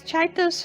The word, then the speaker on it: Csejte: as well as yeah i looked it up and i guess that's how it's pronounced roughly not how i would have guessed but as well as chaitos former ruler and osaka